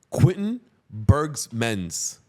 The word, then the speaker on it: Quentin Berghmans: Quentin Berghmans.